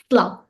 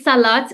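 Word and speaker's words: صلاة: And we call it sla. Sla. Okay? It's normally salat, but actually in Darija we don't really pronounce the T. So we say like sla.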